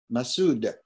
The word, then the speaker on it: Masood: So I would like to introduce, if I can, Masood, which rhymes with dude.